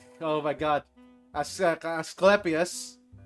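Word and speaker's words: Asclepius: Askepius. Askeepas. Okay. L is silent.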